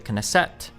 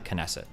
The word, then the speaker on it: Knesset: The Knesset or the Kesset. The Knesset. It's got to be the Knesset.